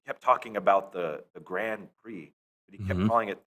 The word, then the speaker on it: Grand Prix: like damn it Flexo it's the Grand Prix not the Grand Pricks you idiot and he